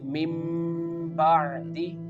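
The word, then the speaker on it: مِنۢ بَعْدِ: So, the first examples mentioned in this lecture is mim ba'di. Mim ba'di. Here the noon change into meem.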